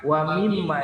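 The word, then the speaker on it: وَمِمَّا: Nah, di sini ada wa mimma, ini ada mim bertasydid. Wa mimma, nah tahan, jangan wa mimma, tapi wa mimma.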